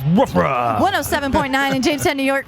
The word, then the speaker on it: WRFA: Pronounced woofra.